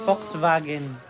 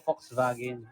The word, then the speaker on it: Volkswagen: tamang pronunciation ba ay Volkswagen. Uy sa ano akuting kasi sa bansa nila ang pag-pronounce ng V is F. Tapos yung W W ay V. Ang W is V pala. So Volkswagen ah mga ka-wander.